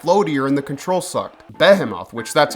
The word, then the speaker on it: Behemoth: __ ] except floer and the control sucked Behemoth which that's how you pronounce it by the way is one of